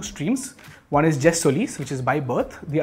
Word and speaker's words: jus soli: It's jus soli, not juice soli.